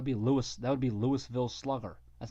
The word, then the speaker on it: Louisville: Louis that would be Louisville Slugger that's not a Louisville Slugger dum-dum how do you spell Louisville I mean there's an s in Louisville but you don't pronounce it yeah but you didn't